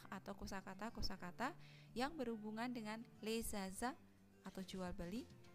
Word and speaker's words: les achats: kosakata-kosakata yang berhubungan dengan les achats atau jual beli, les achats gitu ya, digabungkan S sama A-nya berubah menjadi Z.